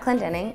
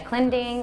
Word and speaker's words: Clendening: for YouTube are Anna Clendening, ANNA-CLENDENING. It's super easy if you think about it phonetically, but yeah, most people call me Anna Clending, Anna Clendering, Anna Cleansing, Anna Clendening. But yeah, Anna Clendening, CLENDENING.